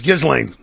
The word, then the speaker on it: Ghislaine: It's Ghislaine. Do you know? Oh, look at me. No, Ghislaine?